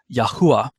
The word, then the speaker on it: Yahuah: pronounced that caused me to land on the pronunciation of yahuwah for yodej and it also just kind of works out cool because i had that little intro talking about the bermuda triangle and the yahuwah triangle just sort of well it rhymes with